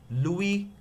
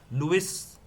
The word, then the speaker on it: Louis: Louis Pasteur. Louis is not how we pronounce it, it's called Louis.